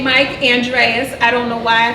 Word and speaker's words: Andrus: the way it's Mike Andress Andress and it's just it's pronounced just the way it's spelled I have no idea why I did it but it's Mike Andreas and I think it's